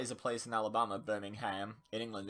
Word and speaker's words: Birmingham: think, in Birmingham, or Birmingham, as they insist on calling it. That is a place in Alabama, Birmingham. In England, it's Birmingham. It's 2 different place names, like, spelt the same, pronounced differently.